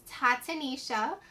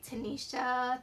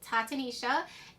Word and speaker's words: Tatanisha: So the way you pronounce my name is Tatanisha. A lot of people say Tanisha, Tatiana. I get it all the time.